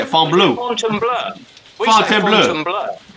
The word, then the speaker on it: Fontainebleau: You gotta say it, Fontainebleau. Fontainebleau. Fontainebleau. Well, it's because it's French. This is Miami Beach. We say Fontainebleau. The name changes the closer you get to France, the more it sounds like French.